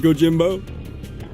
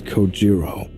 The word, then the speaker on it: Kojiro: Get it, Kojimbo? The way he deliberately mispronounces my name really bothers me. It bothers me so much that the anger boiling inside me gives me the strength to open my mouth once more. It's Kojiro. Sure, bro.